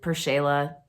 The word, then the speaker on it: PerShayla: the name memorable so i just did per shayla phonetically that's something that i've always responded to with purshala so um that's that's